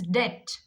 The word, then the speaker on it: debt: Whenever you come across with B, T together, here also B becomes silent. This is not debt, this is debt. Debt, debt. So before T, after M, if you get the words, you have to pronounce B silent.